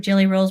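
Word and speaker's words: Gelly Roll: And if it's new to you and you haven't heard of jelly rolls before, it is spelled with a G. Is that under the camera? Backwards probably. G E L L Y. Roll. Jelly roll.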